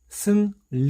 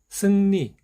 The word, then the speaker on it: 승리: 슴 lee 4 2 자 두 글자를 연결해서 발음해 보면 승 리 리 라고 발음 하려고 하면 어렵습니다 그래서 자연스럽게 씀 미 쓱 니 승리 발음과 관련된 추측 뜰은 나중에 기회가 되면